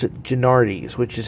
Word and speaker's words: Genuardi's: kind of simplify their name a bit and pronounce it gennardis which is how it's been a very um